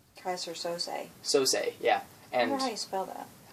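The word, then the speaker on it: Keyser Söze: Because there's this mysterious character called Kaiser Sosa. Kaiser Sose. Sose, yeah. And I wonder how you spell that.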